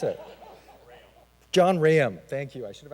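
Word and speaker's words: John Rahaim: How do I pronounce it? John Raham, thank you.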